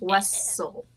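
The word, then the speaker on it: Wesell: That's Wessel. Gotta make sure you say it right. It's Wessel. Yes. Wessel as in Wesselmania.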